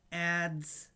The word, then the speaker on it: adze: It is entitled Gorge, Adze, Rasp, Hammer. And adze is spelled A-D-Z-E. And apparently it's some sort of ancient woodworking tool. And it's pronounced adze.